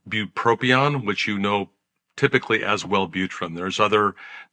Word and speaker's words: bupropion: Bupropion. One of the problems with it is it's hard to say. Bupropion is the right way to say it.